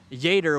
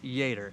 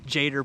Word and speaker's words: Jader: a d r but if I'm doing my Spanish correctly it's pronounced Jer I believe okay cool I think I called him jader probably a few times